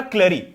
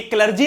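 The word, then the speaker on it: clergy: तो सबसे पहला एस्टेट जो था वो था क्लरी। अब ये क्लर्जी लिखा है, पर इसको कुछ लोग क्लरी भी प्रोनाउंस करते हैं, पर हमको कैसे याद रखना है, क्लर्जी, ठीक है।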